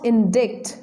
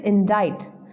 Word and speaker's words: indict: last but not least is indict friends its pronunciation is not indict it is indict it means charged with a crime in Hindi